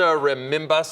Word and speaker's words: Rebimbas: I'm Mike Heidick, along with Representative Rosa Rebimbas. Did I pronounce it correctly?